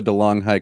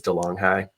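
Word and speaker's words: De'Longhi: myself from my Marva DeLong High coffee maker. Yes, this episode is brought to you by DeLong High. I think they pronounce it DeLonghi, which is so ridiculous.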